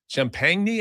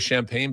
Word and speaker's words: Champagnie: Champagnie, I think, is how they pronounce it. And uh you know, I I always wonder if it's just going to go with champagne, but they don't.